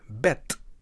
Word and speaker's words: bed: stress we can see the word ends on the consonant the D which is pronounced as T in Dutch so the word reads bet next let's have a